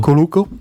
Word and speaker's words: Cuoco: Cuoco.